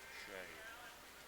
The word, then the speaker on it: Sieh: Last name is Sieh, and it's pronounced Shay.